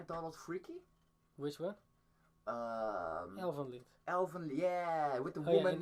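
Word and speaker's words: Elfen Lied: It's Elvenlied, ninjas. Lied. Not lied. Lied.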